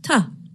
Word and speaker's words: to: When we say it quickly, the word to is pronounced ta.